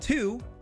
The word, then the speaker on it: tsu: You'll notice that normally they should be C, T, and Tsu, but they're actually Shi, Chi, and Tsu. Tsu as in tsunami.